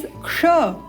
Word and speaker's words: क्ष: यह देखना है कि यह क्ष बनता कैसे है। ये बनता है क एवं श, मूर्धन्य श।